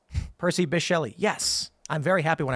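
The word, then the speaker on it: Percy Bysshe Shelley: read it and I don't know how to pronounce the guy's name it's a guy right fail uh he B I was correct Percy bishell yes I'm very happy when I remember stupid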